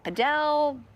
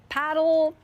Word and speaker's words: padel: And no one can quite figure out how to pronounce it. Padell, paddle.